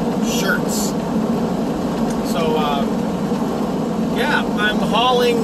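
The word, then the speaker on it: Schertz: to a town called shirts texas uh it's spelled the proper way it's spelled like it sounds s-c-h-e-r-t-z shirts so uh yeah i'm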